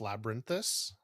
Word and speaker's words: Noctis Labyrinthus: What you got, Noctis Labyrinthus? No. No. I think that you're missing a syllable there. Noctis. I don't think I am. Labyrinthus. Labyrinth. You said labyrinth.